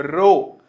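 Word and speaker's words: rho: का चिन्ह हटाएंगे तो एक कांस्टेंट आएगा बच्चों रो इस रो को हम बोलते हैं रो सिंबल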